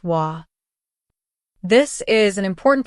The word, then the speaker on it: は: It is the most neutral and commonly used way to say “I” in polite Japanese. は is the topic particle, pronounced “wa”.